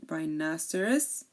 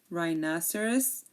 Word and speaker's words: rhinoceros: we have here um the H is also silent um like in rhinoceros or Rhythm okay rhinoceros or Rhythm there are